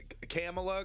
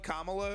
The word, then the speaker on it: Kamala: know because people the the right-wing intentionally mispronounce names you know so I don't want to be I do I just I find it hilarious I do it myself I keep calling her um camela Kamala I I keep saying